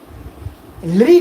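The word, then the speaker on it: ऌ: लृ का उच्चारण होता है लृ लृ लृ लृ लृ। इसमें थोड़ा सा री के सदृश होता है, र नहीं होता, र नहीं होता, लृ लृ लृ। इसका हिंदी में उच्चारण हम अलग तरीके से करते हैं, उसमें हम हिंदी में करते हैं ल और री मिला देते हैं, परंतु संस्कृत में लृ का एक स्वतंत्र अस्तित्व है।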